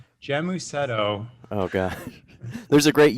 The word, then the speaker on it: Gēmusetto: It's Gēmusetto.